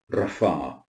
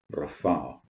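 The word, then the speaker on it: רפא: That's his personal name, Yahweh Rapha. Yahweh Rapha. And that means the Lord who heals. It's found in Exodus chapter 15, verse 26, and here the pei receives the soft pronunciation of F.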